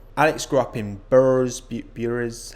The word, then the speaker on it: Bures: is Alex Albarn Alex grew up in burrows bures how he pronounced this which is right near Colchester very